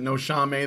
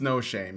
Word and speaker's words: No Shame: think it's no shame I pronounced it no Xiaomei the first time I saw it no but it's no shame yeah so all right